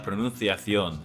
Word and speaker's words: pronunciación: The Spanish Mexican that I learned has a lisp, so I say la pronunciación instead of la pronunciación.